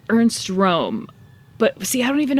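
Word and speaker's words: Röhm: sound like a douche, you say it so it sounds like the English word room.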